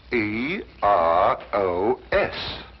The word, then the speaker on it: Eros: influence of Cockney stagehands she added an H where there shouldn't have been one what then spell it as she spelled it but without the H e r o s precisely and here he